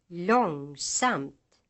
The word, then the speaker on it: långsamt: Hustru, långsamt, någon, smörgås. These words are written as hustru, långsamt, någon, and smörgås, but pronounced, using accent 2, with the second syllable almost as loud as the first.